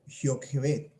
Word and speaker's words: Jocabed: tiene la palabra jocabed en hebreos se pronuncia como yo que ve qué significa jehová es